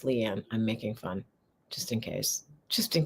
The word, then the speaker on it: Liane: bit light a um that's not how you say my name it's Leanne I'm making fun just